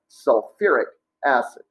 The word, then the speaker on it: sulfuric acid: That is called sulfuric acid. All right, sulfuric. Again, add the UR before the ic ending. Again, no hydro. All right, so just sulfuric acid.